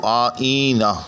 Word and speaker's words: آئینہ: دہرا دیتا ہوں کہ آئینہ کے اندر دو تلفظ ہیں یا اس کے دو لغات ہیں کہ اس کو آئینہ یعنی مفعول کے وزن پر بھی باندھا جاتا ہے جیسا کہ یہاں بندھا ہوا ہے، اور آئینہ فاعل کے وزن پر بھی